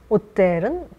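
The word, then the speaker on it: hôtel: 오피탈 그 다음에 오텔은 프랑스에서는 호텔 H 발음 안 한다는 거 묵음입니다. 오텔 그리고 시청 하면은 오텔 드 빌르 그래서 빌르가 도시라는 뜻이라고 우리 말씀드렸죠.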